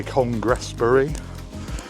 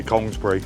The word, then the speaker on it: Congresbury: People say Congresbury, I just say Congresbury. It's easier for me, being a Somerset lad.